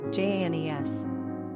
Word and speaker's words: Janice: Number of syllables, 2. Ranking popularity, not applicable. Pronunciation, Janes. Simple meaning, God is gracious, merciful.